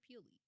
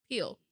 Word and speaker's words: Peele: Is it Peele or Peely? Peele.